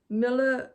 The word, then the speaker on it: Mille: changed the name to Miller Reversen. Start again. Mill Reversen Len. It's French for 1000 Dreams in Wool. So I'll spell it to you. So Mill, M-I-L-L-E, R-E-V-E-S-E-N, and then Len, which is L-A-I-N-E.